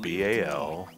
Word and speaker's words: Balzac: It's spelled B-A-L-Z-A-C. Z-A-C, yeah. So, is that your ball sack's nobody then? No. It's Balzac. Balzac.